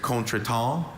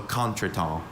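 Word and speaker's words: contretemps: There's contra and also contrl.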